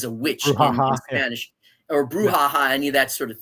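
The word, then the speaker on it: brucha: Uh bruha. B r u c ha. Bruha. Bruha. Okay. It has nothing to do with the word bruha like as a witch in Spanish or bruhaha.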